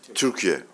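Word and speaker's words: Türkiye: Dear colleagues firstly uh we changed the pronunciation. It's Turkey right now. It's not Turkey anymore.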